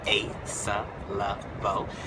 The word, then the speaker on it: Asa Leveaux: All right, so for those of you who don't know anything about me, I am Asa Leveaux, and that's how you say it. You say it Asa Leveaux.